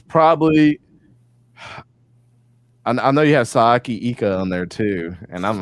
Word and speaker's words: Siaki Ika: Sayaki Ika.